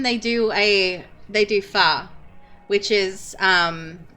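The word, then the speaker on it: pho: Um like particularly if you like ramen they do a they do far which is um like it's pronounced far but it it it's spelled like fo so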